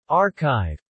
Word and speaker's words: arXiv: archive pronounced archive is a repository of